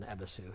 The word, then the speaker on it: Ebisu: station, that was in Ebisu here, or Ebis. Ebis. Sorry, there's some dispute about how you say it.